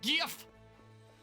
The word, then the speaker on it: GIF: GIF! It's pronounced GIF!